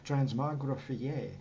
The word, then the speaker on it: transmogrifié: It should be pronounced with the IER. Transmogrifié for the soprano sax, synthesizer, and people.